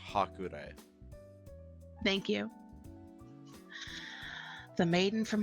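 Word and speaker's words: Hakurei: It's that's pronounced Hakurai.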